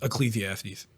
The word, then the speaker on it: Ecclesiastes: that was pretty much Ecclesiastes that's how it's pronounced Ecclesiastes I was trying to